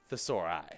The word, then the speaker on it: thesauri: the sore eye but the proper way to say it is thesauri yeah yeah but but